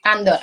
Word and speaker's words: Andor: ¿Se pronuncia así? Andor, así es.